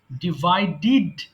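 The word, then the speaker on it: divided: ডিভাইড, ডিভাইডিড, ডিভাইডিড। আমরা যখন শব্দের সাথে ডিইডি পাই তখন কিন্তু আমাদেরকে ডিড উচ্চারণ করতে হয়।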